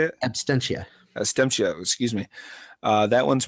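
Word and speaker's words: Absentia: We're going to do Abstenia. Is that how you say it? Abstentia.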